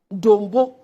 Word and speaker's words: Dombo: Then, University of Development Studies, WA, you have changed it to Simon Diadon Dombo University. It's not Dombo, it's Dombo. Dombo.